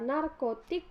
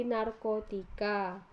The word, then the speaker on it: narkotik: fonem amis halnya pada kata narkotik dilafalkan menjadi narkotika yang B penambahan fonem